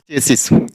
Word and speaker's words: chassis: गाड़ी का main part होता है चेसिस। यहाँ ब्रोशर, ऐसे से ये मस्टेस। और यहाँ देखिए CH कब प्रोनाउंस होगा, तो देखिए इस एग्जांपल्स में देखिए